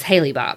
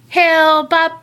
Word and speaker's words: Hale-Bopp: cuz I was like I really always thought it was Haley Bob I mean they probably pronounce it like that down here everything else because I read a feat like like read and listen to some stuff and I was like he'll Bob Hale Bopp benefit up I do